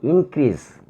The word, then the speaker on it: increase: Since this is a noun, composed of two words, we should emphasize on the first syllable in.